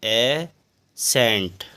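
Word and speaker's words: ascent: साइलेंट अब पढ़ेंगे चकि यदि एस के बाद सी आता है तो सी साइलेंट होता है जैसे ए एस सी ई एन टी एस ये एस है और एस के बाद क्या आया है सी तो इस सी साइलेंट होता है इसको क्या पढ़ेंगे ए सेंट अगला है एस सी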